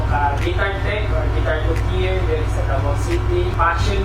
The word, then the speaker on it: luthier: Isa ko ka guitar tech or guitar luthier there sa Davao City.